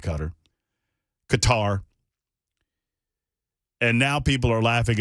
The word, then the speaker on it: Qatar: wag on the super text line regarding my pronunciation of the country of cutter which I've always called cutter Qatar and now people are laughing at me because